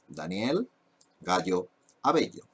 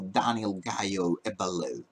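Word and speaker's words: Daniel Gayo-Avello: Here we have, my name and my name in every single platform is this one: dah-NYEL GAH-yaw ah-BEH-yaw That's the pronunciation, no DAH-nyel GAY-o ah-BEH-low.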